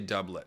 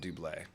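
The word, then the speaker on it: doublet: moat so appar apparently the classic French pronunciation is wrong Tim we say dublet not Dule although looks like Dule if you if you know French phonics but it is dubled we are being told so um I'm glad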